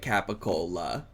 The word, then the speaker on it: capicola: Like even that capicola, that comes from capo means head and the cola means neck. So, it's basically just telling you what can say it capicola.